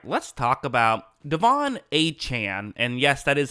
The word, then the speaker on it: Achane: let's talk about Devon achan and yes that is how you say his name a Chan not a chain uh he used to be called a chain but he eventually corrected